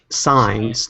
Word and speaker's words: Signs: Signs, like street signs. Like signs.